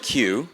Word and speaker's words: Kiyu: My first name is pronounced Q, like the letter Q.